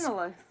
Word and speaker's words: Cianalas: a post about, and I'm not going to pronounce this correctly, it looks like it's Cianalas. Yeah, which was Cianalas.